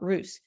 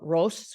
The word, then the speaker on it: Roos: Here in this area, we call it Roos, but in that area, they call it Ros, which is the original German pronunciation.